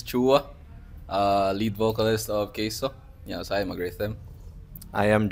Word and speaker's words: KEISO: Cagayan de Oro uban na to karon ang keso so Because we're so Gwapo so kusta man mo B an sa gina pagpronounce sa inyong name keso keso keso keso keso keso Oo ke K